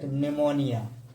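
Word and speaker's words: pneumonia: silent रहती है प जब किसी बर्ड के शुरू में प ए पी एस हो तो पी का उच्चारण नहीं होता है यानी कि साइलेंट रहती है प प को नहीं पढ़ा जाता शरू में प है तो प को नहीं पढ़ना है निमोनिया पस है तो साइजी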